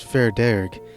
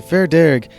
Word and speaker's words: Fear Dearg: The Darrig, also known as Fair Dearg, is one such creature of Irish mythology. Darrig is an Anglophone pronunciation of the Irish words fear and Dearg, meaning red man.